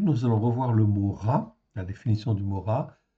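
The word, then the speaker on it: רע: Donc le mot en fait ra, ok, ça s'écrit comme ceci, resh aïn, et ça se prononce ra.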